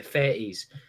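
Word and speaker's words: Fettes: He then went to Fetties. Fun fact: Bulworth Academy was based on Fetties. It was genuinely, like, if you're ever in Edinburgh, go and look at Fetties High School, and you'll look and go, "Fuck, it is Bulworth."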